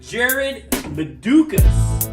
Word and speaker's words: Jarad Medukas: Jarad Medukas. Is that how you pronounce it right?